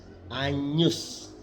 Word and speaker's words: Agnus: Kemudian yang kedua, di depan N, G diucapkan seperti ny, ny, ny. Seperti ketika kita mengucap kata nyata, nyata. Contoh, Agnus. Kalau kita menyanyi anak dombala, Agnus Dei, bukan Agnus Dei, tapi Agnus, Agnus Dei, Agnus.